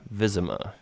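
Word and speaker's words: Wyzima: in the city of vism ah now it's in the map it's spelled w y zi ma and that's from the Polish word for the city so vism a is actually the english translation but but this is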